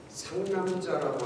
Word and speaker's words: 상남자: 상남자라고 하는 이야기가 있어요. 상남자. 드라마에서 나오는 이게 상남자. 발음을 잘해야 돼. 상 이렇게 해야지 세게 발음하면 안 돼.